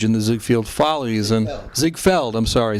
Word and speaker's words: Ziegfeld: on the stage in the Ziegfeld Follies and Zig Feld I'm sorry zig felt Follies so mispronounces that that word everybody all right so